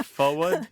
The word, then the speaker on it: forward: Now, there are people, by the way, who pronounce forward to rhyme with Ford, F-O-R-D.